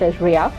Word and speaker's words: REA: be taking care again it is called as re a or pronounced area we will see that